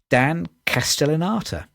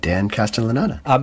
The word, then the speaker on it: Castellaneta: It is Dan Castellaneta. It was I've got to learn how to pronounce his name because he's been in every episode of The Simpsons.